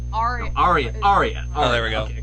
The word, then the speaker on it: Aria: I forgot to pronounce it again. Araya. Aria.